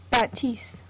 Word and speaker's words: Baptiste: I don't really know how to pronounce. I'm not French. How do you? Let me look it up real quick. Baptiste.